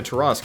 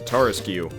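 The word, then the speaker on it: Tarrasque: I think originally, when I was like in 3rd grade, we called it the Tarasque, but we realized very quickly that that was a terrible pronunciation for such a... It's either Tarask or Tarask. But it's definitely not Tarasque.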